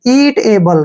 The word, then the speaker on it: eatable: ए से हो गया हमारा ए और बी से ब हो गया और एल का उच्चारण एल हो गया, ल हो गया और ई का उच्चारण हम नहीं करते हैं।